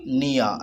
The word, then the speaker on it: near: N and E and A, near. And R is silent, so I put in the bracket.